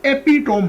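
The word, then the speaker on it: epitome: इसको हम एपिटोम पढ़ते हैं, एपिटोम। यानी ये इंग्लिश ग्रामर में ना 2 फेलेबल वर्ड है।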